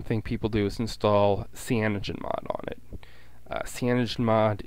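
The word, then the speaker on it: CyanogenMod: the most common thing people do is install Cogen mod on it uh Cogen mod is spelled uh spelled like this uh c y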